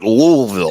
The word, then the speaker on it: Louisville: not Louisville Louisville yeah it's in the back of your throat louville exactly yeah with all